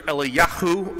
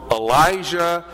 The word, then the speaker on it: Eliyahu: Their names are Eliyahu and Elisha. That's how they're pronounced in Hebrew, or Elijah and Elisha, as we many times say today.